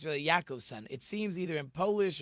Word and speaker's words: Jacobson: supposed to be pronounced yakob son with a Y like Yakov it's really yakob son it seems either in